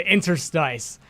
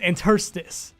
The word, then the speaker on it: interstice: interstates because for the longest time I said interstice and then I looked it up one day